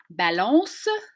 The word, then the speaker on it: balance: stress on ad advertisement balance so at the end it ends on a nasalized vowel we don't hit that n sound for real right balance so in